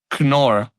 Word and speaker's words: Knorr: I didn't know that you pronounced it Knorr. Knorr. Because here we also pronounce it Knorr. The quiet K. It's a quiet K. It's a silent K.